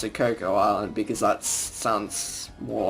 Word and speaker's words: Choco Island: chocolate but koko island or some people also pronounced at choco islands but we pronounce it Cocoa Island because that's Suns more like it so yeah